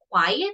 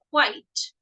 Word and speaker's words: quite: Yeah, this is not quiet, this is quite.